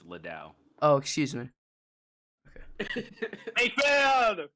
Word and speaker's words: Liddell: EJ Little. Did I say it wrong? Yes, it's Liddell.